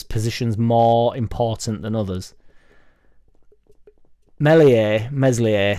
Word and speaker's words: Meslier: Meslier, silent S, will get us out of the Championship, and he will be our Premier League goalkeeper for at least a season.